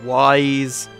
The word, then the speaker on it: Ys: I've never actually tried to say the name wise wise eight lacrimosa of Dana I think is